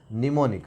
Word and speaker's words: mnemonic: For example, mnemonic, already wrote here. Mnemonic means some landmark. Here M is silent.